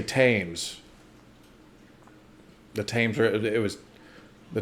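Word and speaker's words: Thames: river here's a breakdown the th at the beginning is a t- sound right I knew that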